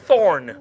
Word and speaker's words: Thorn: You've got Dorn with a D, and you've got Thorn with a TH.